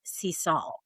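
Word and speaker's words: Sisal: Our favorite place is a beach called Seesaw. It's spelled S I S A L.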